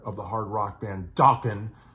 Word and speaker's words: Dokken: But, you know, they do it to Juan Crucier, legendary bass player of the hard rock band Dokken, which also rhymes with rockin', and of course a